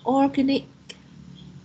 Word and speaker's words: organic: and this word uh organic okay so it should be organic organic organic distress um your is a organic organic organic very good organic so and the stress is in the second syllable and lastly yeah i